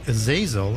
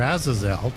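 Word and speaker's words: Azazel: outside the Bible but Aazil or Aazel depending on how you want to pronounce that is the one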